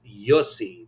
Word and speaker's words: Jussi: So, Luna Project says, "Jussie, which I'm actually thinking is Yosi because as you know, other countries pronounce certain letters differently."